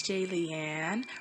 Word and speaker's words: Jaliane: and more hey it's j leanne rhymes with alien like if you're a